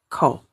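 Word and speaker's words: 口: Kou ini bacanya kou.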